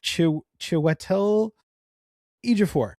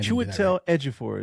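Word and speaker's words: Chiwetel Ejiofor: Chetel edif. No, I Chetel edifore is how you pronounce.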